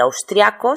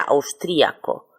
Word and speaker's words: austriaco: Yo puedo decir austriaco sin acento, pero puedo ponerlo con acento cuya pronunciación sería austríaco.